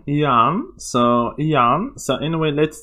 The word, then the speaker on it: Jann: yeah and he also actually taught me how to say his name Yan so Yan so anyway